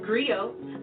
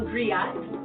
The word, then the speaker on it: griot: It's pronounced griot, or in English, a griot.